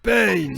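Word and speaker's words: Pain: les bases de l'akatsuki ben ça se prononce payne c'est pas la peine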